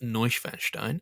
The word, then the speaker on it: Neuschwanstein: It's actually pronounced Neuschwanstein.